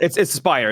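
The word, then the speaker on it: Aspyr: It's called Aspire. It's just Aspire. spelled different. Yeah, it's spelled weird.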